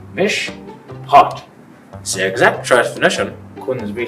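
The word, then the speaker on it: משפט: It's a Hebrew word, MISHPOT, pronounced MISHPOT.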